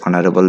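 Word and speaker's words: honorable: শিক্ষার্থীরা, চলে আসছেন নয় নম্বরে, mister Khan is dash অনারেবল ম্যান। একইভাবে আমরা এখানে ব্যবহার করব আর্টিকেল অ্যান, কারণ এইসের উচ্চারণ হ কিন্তু না হয়ে অনার অ হয়েছে, তো অ সাউন্ডটি কিন্তু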